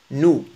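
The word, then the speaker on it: nous: أون نو هذه تنطق نو. الإس إس في النهاية لا تنطق.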